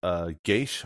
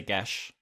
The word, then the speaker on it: Gish: Yeah, the only thing that at least will add is like I forget the way you pronounce is Geish or Gish. Yeah, there's a couple different correct ones, but I say Gesh.